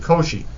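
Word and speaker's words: Cauchy: and it was this math but I always pronounce it Koshi this mathematician formalized the definition of what we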